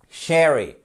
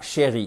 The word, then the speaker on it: sherry: Sherry. Déjà, c'est pas chérie.